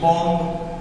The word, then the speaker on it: bomb: BOMB बॉम्ब, क्या पढ़ा है?